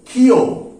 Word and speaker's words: ক্ষ: তিনি কি বলেছিলেন এর উচ্চারিত নাম হবে কিন্তু খিও তাহলে একে কি বলা হবে খিও অর্থাৎ অনেকে দেখবে এই কারণে খিও উচ্চারণ করে খিও অর্থাৎ এই খিও নামটা কিন্তু